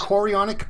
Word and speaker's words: chorionic: Thomas made an awesome video about HCG watch me mispronounces which stands for human is it chorionic yes chorionic gonadotropin you said it okay so all of